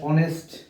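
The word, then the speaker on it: honest: এন এরকম আরো কি হইতে পারে যেমন ড্যাশ অনেস্ট অনেস্ট ম্যান তাইলে অনেস্ট এর এই জায়গায় এইচ আছে এইচ এর উচ্চারণটা আমার উজ্জ্ব আছে বিধায় এর পূর্বে আমাদের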